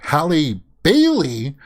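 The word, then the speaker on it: Halle Bailey: at disney's ariel now i had to closely make sure that i pronounced that as hallie bailey because i'm obviously familiar in with halle berry right everybody would say halle berry but hallie bailey uh i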